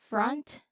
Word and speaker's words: front: So the pronunciation, it starts with in, in, front. There's a consonant cluster, a, t. There's four distinct sounds. Uh, uh, uh, t, t. Front. You say it naturally, you link those words, you combine those